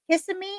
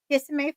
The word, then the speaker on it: Kissimmee: Is it Kissimmee or Kissimmee, Florida? How do I pronounce that, Mom?